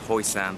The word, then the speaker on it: Hoi Sham: Now it's spelled Hoi Sham, like S-H-A-M, but as per camera girl, she can read the Chinese characters, it's Hoi Sam.